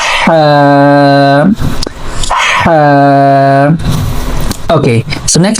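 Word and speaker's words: حاء: So actually in the Ha we are using our middle part of throat. So we are pronouncing from here this letter Ha.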